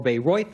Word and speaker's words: Bayreuth: is correct, and the Beirut, or Bayreuth, as it's pronounced, is in Germany, the West Germany Festival.